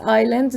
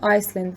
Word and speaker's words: island: near sri lanka so it's island not iceland the s is silent it has the smallest